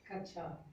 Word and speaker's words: कक्षा: छो, अब बोलो इसको, जातस हम बोलते हैं ना वैसे, कक्षा। इसे क्या बोलते हैं, शुद्ध से उच्चारण क्या है इसका? कक्षा, कक्षा है ना शुद्ध उच्चारण, कक्षा, कक्षा, आधा का, कक्षा।